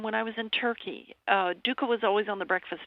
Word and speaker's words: dukkah: I think one that I love to talk about is called dukkah, and it's a condiment.